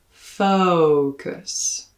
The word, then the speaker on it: focus: goat or in whoa for english native speakers unless you include a full slide from uh they may have trouble understanding this word so rather than a focus or a focus make sure to include a slide in the first syllable focus stomach i like this